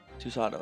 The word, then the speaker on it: Susato: Susato, that's how you fucking pronounce it.